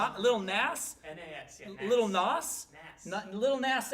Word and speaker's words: Nas: Little Nas?